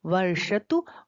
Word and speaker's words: वर्षतु: देखिए यहाँ पर जो श है वो मूर्धन्य श है, श नहीं है, तो उसका उच्चारण हमें जहां से हम ट ठ ड ढ न बोलते हैं, वहां मोड़ के जब हम जीव को लगाएंगे तो इस श का उच्चारण होगा उषा, ऋषि, और निशा, शांत। दोनों श का अंतर समझ के हमको इसका उच्चारण करना चाहिए।